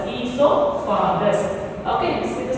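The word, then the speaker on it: oesophagus: This we can say it as esophagus. Okay, esophagus, esophagus. Okay, see the spelling, esophagus. O is silent here. O E S O P H A G U S.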